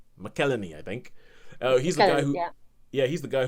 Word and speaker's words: McElhenney: I can never pronounce his last name. It's an Irish last name. He's American, but it's Rob McElhenney. McElhenney, I think.